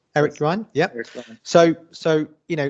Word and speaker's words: Eric Yuan: obviously Eric you are you on am i pronouncing right Eric Ron yep so so you know talking of presenting